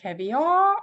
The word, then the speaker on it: caviar: Икра, caviar, and again, this is a borrowed word, это у нас заимствованное слово из, скорее всего, французского, поэтому, как обычно, произношение не по правилам. Очень часто бывает, что заимствованные слова имеют свое особое произношение, связанное исторически и, опять-таки, с языком, с которого пришло.